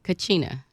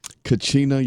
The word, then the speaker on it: Kachina: is the founder of oh how do you pronounce that Nicole Cucina Kachina yoga she's the founder of Kachina yoga ladies